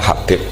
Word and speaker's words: Habib: Itu di harokatnya kitab itu ada yang nulis Hubab, tapi yang benar yang benar itu bacanya Habib. Habib itu As-Sulami, itu ikut marga Robi'ah.